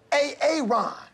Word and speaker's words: Aaron: you say it the first time i said a-a-ron because it's pronounced aaron sonner you done messed up a.a